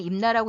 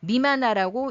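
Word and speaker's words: 任那: 일본 서기에 나오는 임나는 임나라고 읽지 마시고 미만나라고 읽으면 되고 그 뜻은 바로 오사과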